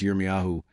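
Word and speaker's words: ירמיהו: In Hebrew, Jeremiah is pronounced Yeryahu and in Latin it is Ireas.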